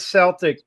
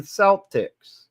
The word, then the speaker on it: Celtic: of Europe while the early pronunciation was with a s sound reflecting its nearest origin in French The Modern Standard is a hard C sound like C this is because language historians desired the word to better reflect its Greek and classical Latin Origins the soft sea sound